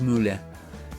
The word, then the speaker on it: Müller: no solamente fue bueno Thomas Müller para pronunciar bien su nombre en alemán fue un líder dio